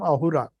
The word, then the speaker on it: Ahura: Asura because in Persian language, in those days, they could not pronounce Sa. So Sindhu became Hindu. Ha. So Asura became Ahura.